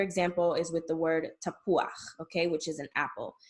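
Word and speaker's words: תפוח: You see that U and that A together, don't put them together. They're two different vowels and you need to pronounce them both. Okay, so tapuach.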